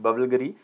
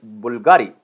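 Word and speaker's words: BVLGARI: ambassador this is not bulgari this is bulgari v is basically in the ancient pronunciation of the italy it is pronounced as the u so remember it is known as bulgari so italian luxury brand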